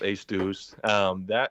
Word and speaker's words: Aestus: So the reason I started that company, that's the one that's pronounced Æstus. So the Æstus is just Latin. It's a Latin word for the surge of a tide, on natural growth, if